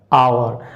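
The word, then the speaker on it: hour: My brother will return after आवर। अब एक चीज़ याद रखिएगा, ये एच है बट इसका प्रोनाउंसिएशन जो होता है वो वावेल का होता है, इसलिए ए आउट हुआ, दी आउट हुआ, डी आउट हुआ।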